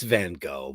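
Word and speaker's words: Van Gogh: know it's van listen it's van go but it's van if you're Dutch I'm not Dutch huh no it's van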